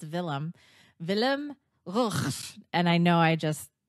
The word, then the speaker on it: Willem Gous: And just to everybody's probably wondering, so how do you really pronounce it? And it's Willem Gous.